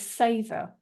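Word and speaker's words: seiðr: in modern day is saor it's spelled s e and it has that blue day that softy and an awe and um it was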